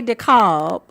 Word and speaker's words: DeKalb: American words where the L is silent. So when you hear it come out of my mouth when I say DeKalb, DeKalb County.